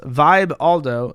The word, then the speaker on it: Vibaldo: sex product the vibaldo the vibaldo pronounced Vibe Aldo doesn't just include your